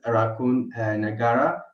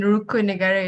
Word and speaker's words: Rukun Negara: What does Raccoon Nagara mean to you? How would you explain it to a foreigner? You mean Rukun Negara, is it? The pronunciation.